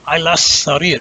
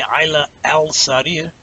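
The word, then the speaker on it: على السرير: Here, aylas sarir. And remember, aylas, you have to pronounce that sin twice because it's a sun letter, right? You can't say ayla al-sarir. It's aylas sarir.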